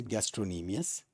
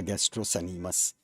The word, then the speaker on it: gastrocnemius: called gastrocnemius gastrocnemius right it is C is silent so it is just a gastrocnemius right and not the gastrocanemus so it is the